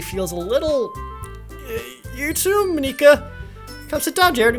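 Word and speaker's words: Monika: Monica I think häôs be the pronounce proper pronunciation right I'll say mineka me Nika is that right that's right it's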